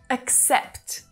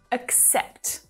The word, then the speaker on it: accept: So it's not accept, but accept, accept. So there's a stop on that k sound to help you ease into the next syllable.